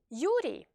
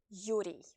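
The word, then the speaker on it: Юрий: Yuri, Yuri, Yuri. So don't forget to pronounce the Y sound at the end of the name Yuri.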